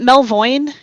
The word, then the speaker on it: Melvoin: Melvoin. Is it Melvoin? Yes. Yeah.